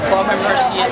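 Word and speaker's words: Baume & Mercier: Could you pronounce the correct pronunciation of the company? Bomberci.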